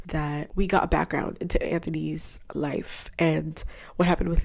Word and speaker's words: Anthony: I'm sorry, I keep saying Anthony, it's Anthony.